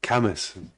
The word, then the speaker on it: Cambois: I'm very grateful to understand that Cambois is actually pronounced Camas. I think is that correct?